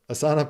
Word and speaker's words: Asana: system called Asana uh if you're a yoga person it's ASA but Asana pronounces it a Asana um and that's a